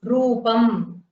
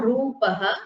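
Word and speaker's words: रूपम्: So that is rupam. It is not rupaha because there is no visarga at the end.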